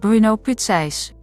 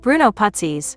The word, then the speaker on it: Bruno Putzeys: (Dutch pronunciation) Jan-Peter van Amerongen (American pronunciation) and Bruno Putzeys (Dutch pronunciation) Bruno Putzeys (American pronunciation) They founded it together.